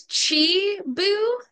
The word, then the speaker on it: Chibu: It's Chibu. Chibu. Thank you, Chibu. Sorry about that. You're good. Want me to pronounce it for you?